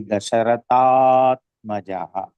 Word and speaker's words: दशरथात्मजः: राघवः पातु भालं दशरथात्मजः It is actually Dasharat Atmajaha, but when we pronounce it will be Dasharathatmajaha.